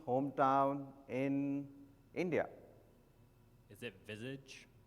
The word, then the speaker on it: Vizag: Is it Visage? V-I-Z-A-G? yeah, it's pronounced, is the spelled correctly?